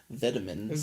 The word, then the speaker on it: vitamins: well yeah that's fine vitamins or as the British say vitamins vitamins so